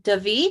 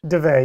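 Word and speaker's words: Dave: And then Davi, did I say it correctly? Deve, you were close. Deve, yeah. I always misspeak mispronounce his name.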